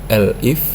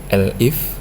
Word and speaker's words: elif: Jadi ada blok if, elif ya bacanya, bukan elif tapi elif, kemudian else.